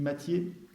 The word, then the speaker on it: Mathiez: Il y a un gars qui s'appelle Mathiez, ça s'écrit Mathiez, ça se dit Mathiez, qui a écrit une histoire de la Révolution française, et Guillemin se sert beaucoup des travaux de Mathiez.